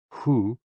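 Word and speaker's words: hoo: which is also associated with the kidneys h-o-o pronounced like who which is associated with the spleen and x-i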